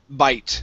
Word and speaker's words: bite: first up we have the word uh bite instead of bit this is a long ey sound bite try that bite okay good